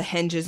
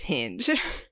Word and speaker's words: henge: I am working so hard to pronounce that word correctly. You don't even know. Henge. Not like a Serbian like henge. A Serbian henge. Not how I want to say it, which is hinge.